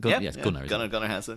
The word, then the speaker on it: Gunnar Hansen: But the controversy is the original Leatherface, Gunnar Hansen, is that how you pronounce it? Gunnar Hansen, yeah.